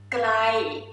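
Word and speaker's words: ไกล: And for far, the word far, because it's far, that's why we just make a little bit longer and flat.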